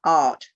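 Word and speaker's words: Da'ath: in the middle is known as the art d a apostrophe ath art d it's up on the board they're d a apostrophe ath and what the apostrophe is is to make certain that you don't mistake the double a the double a in this language is oyin which is a very different letter the double a is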